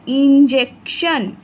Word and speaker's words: injection: TION, শন, TION, শন, টিটা আবার স উচ্চারণ হবে, সিটা ক উচ্চারণ হবে, টিটা স উচ্চারণ হবে। INJEC, jec, TION, শন, ইনজেকশন।